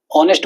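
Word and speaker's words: honest: जैसे कि ऑनेस्ट are here, है ना, सब में एच एच आ रहा है पर एच साइलेंट है। ऑनेस्ट बोलेंगे, आर बोलेंगे, एयर बोलेंगे, तो एच का तो नाम ही नहीं है।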